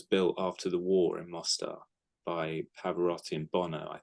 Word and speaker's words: Mostar: It's actually the Mostar, so it's pronounced Mostar, but it's a place in Yugoslavia where my